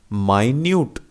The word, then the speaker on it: minute: लेकिन माइन्यूट, जिसका अर्थ होता है कि बहुत ही बारीक सूक्ष्म, जैसे कि कोई भी सुई की नोक कैसी है, माइन्यूट है, बारीक है ना। या किसी घड़ी के अंदर के गेयर्स कैसे हैं, माइन्यूट हैं, छोटे से हैं। तो वो माइन्यूट की स्पेलिंग भी मिनट जैसी होती है, MINUTE। लेकिन जब हमें छोटी वस्तु को के बारे में जिक्र करना है तो अपन कहते हैं माइन्यूट।